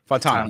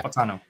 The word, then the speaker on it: Fautanu: But you have Joe Alt there, Taliese Fuaga from Oregon State, and then Troy Fautanu. Here we go with all the Pacific Islander names. What'd you say, Mo? Fautanu. Yeah. Fautanu.